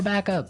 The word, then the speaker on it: backup: to point out that here the pronunciation and stress of this phrase is really important hey yes yes you have to say backup Backup backup yeah so both words are stressed at about the same level hey mhm backup cuz